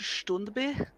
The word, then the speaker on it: Standby: It's pronounced Stundby. Stundby. It's a totally normal Swedish name.